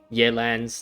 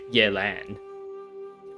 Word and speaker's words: Yelan: of my brain because i want to pronounce it yelan but then that that is like me putting like an english spin like a roman high spin to that name when like i guess subconsciously or maybe even consciously i know that the pronunciation of that is yet and with the like the proper tones and everything but i don't want